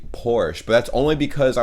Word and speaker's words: Porsche: better oh my god certain americans pronounce it porsche or porsche in german we say porsche so they're porsche everything